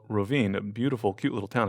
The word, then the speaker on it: Rovinj: And so this town is called Rovinj, a beautiful, cute little town if you ever get a chance to visit Croatia. And it is spelled Rovinj.